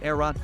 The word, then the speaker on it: Aehra: Its pronounced Aehra design team is headed by Italians Filippo Perini